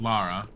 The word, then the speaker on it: Lara: what what you know you told me laura because laura was the lesbian first of all her name is spelled lara secondly i don't think